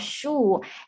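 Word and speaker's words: 树: and teach them, okay, so this is called shu. And it sounds like, because it has the same pronunciation of tree in Chinese character.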